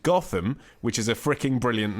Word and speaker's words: Gotham: However, he says, I soon found out that it is pronounced Gotham by the locals, and I got disapproving looks when pronouncing it a la Bruce Wayne.